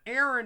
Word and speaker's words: Aaron: wrong with that uh my first name Aaron is masculine although uh it's pronounced almost identically to uh uh e r i n which is a a common female name uh here in the